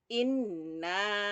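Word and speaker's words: إِنَّا: Di atas nun itu ada tasdid, maka bacanya inna.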